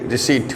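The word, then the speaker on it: receipt: है में विप्लव नहीं रिसीप्ट पी साइलेंट ठीक है रिसीप्ट सेट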